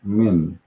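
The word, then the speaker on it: من: we pronounce it simply it's two letters letter m and n if we break it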